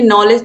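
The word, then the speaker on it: knowledge: और यहाँ पर देखिए, नॉलेज तो आपको पता है, ये KNOWLEDG। तो नॉलेज में भी के क्या होता है? साइलेंट होता है।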